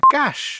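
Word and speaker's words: cache: para más fácil acceso que se pronuncia Cash en inglés porque es una excepción fonética una vez fui a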